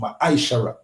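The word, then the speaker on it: מעשר: It means tenth in the Hebrew, and in the Hebrew it's pronounced ma'aishara. 10% of every penny of any increase the Lord gives you, give to the treasury department or teacher.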